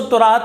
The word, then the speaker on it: تورات: تو حضرت داؤد علیہ السلام پر زبور نازل ہوئی، پھر توریت ہے، اس کو تورات بھی پڑھ لیتے ہیں اور توریت بھی، دونوں تلفظ ہی درست ہیں اور دونوں الفاظ جو